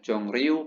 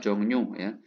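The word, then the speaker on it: 정류: Taksi Jongnyu-jang ya, Jongryu bacanya Jongnyu ya.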